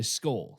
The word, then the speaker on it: Skol: cheers but we don't say cheers we say skull.